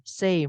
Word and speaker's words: same: Tapi tulisannya bukan S-E-I-M, same, bukan. Tulisannya adalah S-A-M-E. Harusnya kan bacanya sama ya, tapi bacanya same.